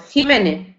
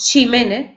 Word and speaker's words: Ximénez: habla andaluza, ¿verdad?, diremos Jiménez. Sin embargo, si estamos en Valencia, pues diremos Ximénez y no Jiménez.